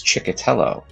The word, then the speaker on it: Chiello: my last name is chiello and it's it's a last name that you can kind of dance to or you can make a a sound like a train if you say it